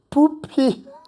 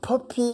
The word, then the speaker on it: Popee: Et alors pensez- pourquoi Poppy Parce que alors, Poppy en anglais, ça veut dire coquelicot. Alors pas écrit comme ça, hein, mais la Ouais, tout à prononciation, fait. c'est coquelicot. Alors que Poupy, c'est le caca.